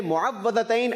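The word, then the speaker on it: مُعَوِّذَتَيْن: सही प्रोनाउंसिएशन है मुअव्वज़तैन।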